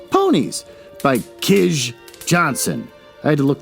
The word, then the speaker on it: Kij: story called ponies by kish johnson i had to look that up it's k i j but apparently it's pronounced kish don't ask me uh